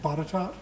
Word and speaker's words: Botetourt: Would you have known to pronounce his last name Botetourt?